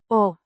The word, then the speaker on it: och: Och Means and pronounced.